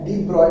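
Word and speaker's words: de Broglie: पढ़ेंगे डी ब्रॉगली hypothesis, और इसे डी ब्रॉगली की बजाय डी ब्रॉय पढ़ते हैं। ठीक है, तो स्पेलिंग के पॉइंट ऑफ व्यू से हम इसको लिखना पढ़ेंगे डी ब्रॉगली, लेकिन बोलते क्या है इसको, डी ब्रॉय बोलते हैं।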